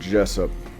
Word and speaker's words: Jessup: I'm looking for a man named Jessup. His name rhymes with dress up.